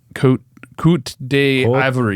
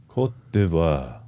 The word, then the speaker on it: Côte d'Ivoire: I don't know how to say it, and Côte d'Ivory. d'Ivoire. You're French. You should know that. I don't think Ivory Coast is not French. Côte d'Ivoire.